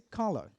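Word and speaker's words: colour: inglês americano ou britânico vai ser Cola fala a letra R não é pronunciada no inglês britânico no final da palavra então a gente pode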